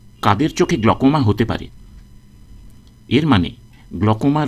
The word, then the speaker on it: glaucoma: একটা কথা বিশেষ করে বলার দরকার যে চোখের গ্লকোমা রোগকে অনেক মানুষ গ্লুকোমা উচ্চারণ করেন। গ্লুকোমা এটা ভুল উচ্চারণ, সঠিক উচ্চারণ গ্লকোমা।